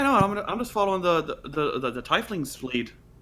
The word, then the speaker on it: tiefling: I'm just following the tiefling's lead. It's pronounced tiefling.